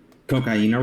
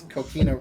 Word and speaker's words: coquina: Did I pronounce it wrong? No? What's the No. rock? That's cocaina, right? Yes. I know it's cocaine in Spanish, but also That's all I heard. It's coquina, yeah, cocaine, Cocaine.